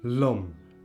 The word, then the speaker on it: lum: Also there is a short O, like in lum. Lum means river.